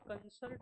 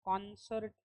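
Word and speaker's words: concert: कंसर्ट जो है बहुत से लोग इसको कंसर्ट कहते हैं। लेकिन इसका करेक्ट जो प्रोनंसिएशन है वो कॉन्सर्ट ही आता है।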